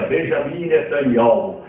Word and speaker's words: Benjamin Netanyahu: O ministro de Israel hoje chama-se Benjamin Netanyahu, que se pronuncia Benjamin Netanyahu.